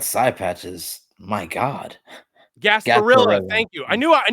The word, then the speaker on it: Gasparilla: Gasparilla.